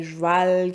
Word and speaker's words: joual: Donc, le mot joual vient d'une déformation du mot cheval, une prononciation du mot cheval. Donc, cheval qui devient cheval, qui devient joual, qui devient joual.